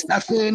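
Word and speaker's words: Stephen: His first name is Stefan. Like, it's spelled S T E P H E N.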